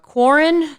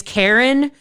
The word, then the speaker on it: Quarren: going to be like, Quarren? And the girl's going to correct them and say, no, it's Karen. It's spelled like Quarren, but it's pronounced Karen.